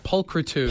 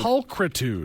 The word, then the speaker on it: pulchritude: pude let me let me see here pude pulchritude pulchritude and that's supposed to be beautiful apparently I